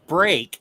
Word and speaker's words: spreek: Spreek is pronounced sprake and just means speak.